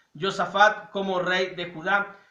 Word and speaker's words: Josafat: rey de Israel y con Josafat o Josafat, de acuerdo a nuestra pronunciación latina, Josafat como rey de Judá, y nos presenta la historia de un gran profeta, Elías.